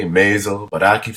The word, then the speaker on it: Maisel: I constantly am calling her Maisel instead of Maisel.